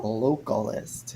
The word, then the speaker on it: localist: localist localist that's cool localist yes rhymes with vocalists yeah would everyone else